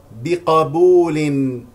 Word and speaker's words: بقبول: تقاه تقاه تقاه تقاه بقبول بق بقبول بفتح القاف القاف القاف للذين بفتح اللامين